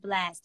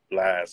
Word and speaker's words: Blxst: But your name is your stage name is pronounced Blxst, right? Blxst. I put an X in it just to be unique when you look it up. I'm the first thing that pop up.